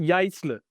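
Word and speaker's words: Jaissle: Je ne sais pas Alors si c'est attention, comme ça. prononciation, Voilà, c'est exact. Jaisle.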